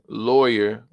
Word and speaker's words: lawyer: to be like Oh a lawyer similar to the word boy boy boy boy lawyer lawyer so this is when